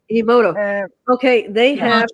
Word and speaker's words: Emoto: How do you pronounce his name? Emoto, Emoto.